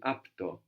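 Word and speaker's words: απ' το: So από το can contract to apto. Apto. We saw this as well with sto. Se to to the can contract to sto. So the same thing is happening. We're just losing the last vowel, no?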